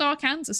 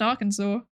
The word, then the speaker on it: Arkansas: No it's not pronounced our Kansas. It's pronounced Arkansas.